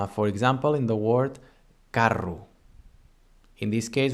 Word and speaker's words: carro: For example, in the word carro. In this case, we have the spelling would be in English C-A-R-R-O. In català, C-A-R-R-O, carro.